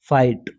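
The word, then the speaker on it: fight: हमने देखा फाइट इसमें आप देखो की आई है बुराई के बाद में घाट है की नहीं पड़ेगी क्या पढ़ेंगे आई पढ़ेंगे लेकिन यह साइलेंट रहेगा ये अच्छा नियम जो है वो साइलेंट रहेगा इसलिए हम इसको क्या बोलेंगे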